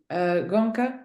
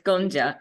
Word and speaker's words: Gonja: Gonka, I'm pronouncing your name correctly? Close, it's Gonja.